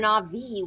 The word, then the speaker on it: Drenavi: thought it was Drenazi. Drenavi with a V.